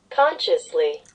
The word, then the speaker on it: consciously: it's really not good consciously oh the consciously okay it's like from conscience consciously okay today is not